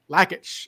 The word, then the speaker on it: Lakich: I've been saying it I've been saying Lage the whole time so yeah well I that's why I asked his brother because I wasn't sure how to pronounce lackage all right cool well